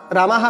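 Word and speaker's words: রামাঃ: যেমন এখানে হয়ে যাবে, তাহলে কি আছে প্রথমে, রামাহা রামাদ, তাই তো, রামাহা রামাহা বিসর্গটা হয়ের মতো উচ্চারণ হয় বললাম আমি, তাহলে রামাহা রামান, তারপর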